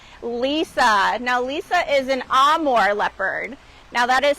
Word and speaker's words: Amur: now Lisa is an Amore leopard now that is spelled am M Ur but it's pronounced am more kind of similar to Italian now she is quickly